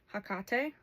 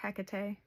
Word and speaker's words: Hecate: Um, in that essence, you got hakate or hecate. I know there's a couple other ways to pronounce it.